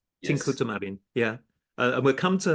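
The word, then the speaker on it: Tincuța Marin: That's correct my pronunciation. Tincuta Marin. Yes. Tincuta Marin.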